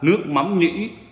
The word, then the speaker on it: nước mắm nhĩ: Và nước mắm nhĩ, không, đọc đúng là nước mắm nhĩ, hiệu DP, tức là vợ chồng của Phương Hồ ở bên Florida gửi qua.